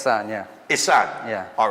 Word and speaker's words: Ihsan: I got the pronunciation correct? It's Ihsan, yeah. Ihsan?